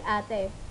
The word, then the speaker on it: ate: Ang tawag natin sa nakakatandang babaeng kapatid ay ate. But in English, ang ate ay binibigkas na ate.